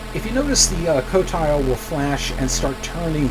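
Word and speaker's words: Qotile: sorry razak 4 um in here is the cotile q t i l e um that is how it's pronounced according to uh warshaw so I'm going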